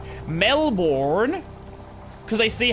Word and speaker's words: Melbourne: Hey, how do you pronounce uh the word Melbourne as in the Australian city? Melbourne.